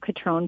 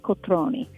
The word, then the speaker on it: Cotrone: Everybody calls it Cotrone Pilates, but in the Italian language, I learned this from a client of mine, every vowel is pronounced. So that's why it's Cotrone Pilates.